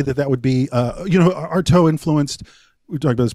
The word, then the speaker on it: Artaud: How do you say his name? Artaud. Yeah. Antonin Artaud. Yeah.